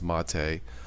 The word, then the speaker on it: MATE: Marte it's spelled mate m8te but it is pronounced Ma Tei I'll boot to my tour guide I do